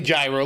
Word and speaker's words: gyro: It's clearly gyro, like gyrocopter. I know. Okay, well, look, I told you the story twice. It was a fun memory of learning that it was supposed to be pronounced gyro because, like, everybody I knew called it a gyro.